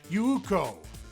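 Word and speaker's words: Yūko: In Japanese, compound vowels don't exist. Therefore, yuko spelled with two 's is actually pronounced yuko. Did you hear the second u?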